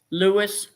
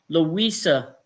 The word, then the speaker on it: Louisa: Louis Rivera, 68. Excuse me, I pronounced it wrong. I missed the A. Louisa Rivera, 68.